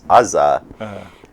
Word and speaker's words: Asare: And Azar is the way my French teacher used to pronounce Asare when I was in secondary school.